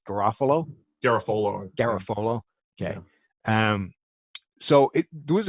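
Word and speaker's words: Garafolo: How's that guy's name pronounced? Garofalo.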